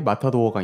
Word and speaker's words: 마타도어: 마타도어는 스페인의 투우에서 마지막에 검으로 소의 숨통을 끊는 주역 투우사인 마타도르로부터 유래되어 이를 영어식으로 발음하여 정치에서의 마타도어가 된 것입니다.